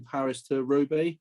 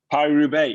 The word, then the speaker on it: Paris-Roubaix: Are you riding Paris to Rowe? Is that how you say it? Paris-Roubaix, yeah, I am.